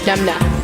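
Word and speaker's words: numnah: NUMNA. N U M N A H. Numna.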